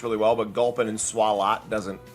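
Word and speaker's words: Swalot: And I know it's probably intended to be pronounced swallot, but swallow works better and it fits the French mustache.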